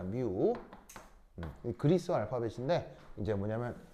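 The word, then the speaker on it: μ: 어 얘 발음은 뮤입니다. 뮤.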